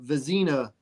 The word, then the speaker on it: Vezina: What about the Vezina Trophy? Is that how you pronounce it? Yeah, the Vezina Trophy.